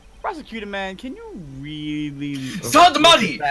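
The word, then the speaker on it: Sahdmadhi: Sadmadi! It is Sadmadi. It is not that hard to pronounce. Just say Sad, and then Mad, and then E.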